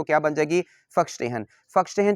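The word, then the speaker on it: Verstehen: Weber, ठीक है, termed फर्स्टेहन। अब ये जो लफ्ज़ फर्स्टेहन है मेरे बेटे, ये बेसिकली जर्मन वर्ड है। फर्स्टेहन, वैसे तो ये वर्स्टेहन लिखा हुआ है, लेकिन अगर आप इसको एग्जैक्टली जो इसकी प्रोनाउंसिएशन वो क्या बन जाएगी?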